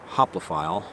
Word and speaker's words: hoplophile: it mean the channel name is hoplophile just pronounced hoplophile like the word hoplophile uh spelled as you